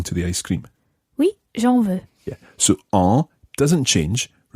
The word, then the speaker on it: j'en veux: I would say, oui, j'en veux. Très bien. The je drops its e and it becomes J apostrophe and it becomes j'en veux.